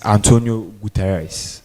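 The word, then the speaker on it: António Guterres: So you try try Antonio Guatari. Okay, that's a very good answer. Okay, thank you. It is Antonio Gutirez.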